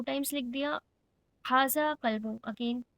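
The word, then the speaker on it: كلبٌ: हाजा कल्बू, हाउ डू we need to pronounce, हाजा कल्बू, नॉट कलबू, हाजा कल्बू।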